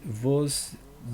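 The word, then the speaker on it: Gvozdyk: Attends, ça ça s'écrit avec un G en premier. G Vos Dick. Ah, Vosdick. Ouais, ouais, c'est ça.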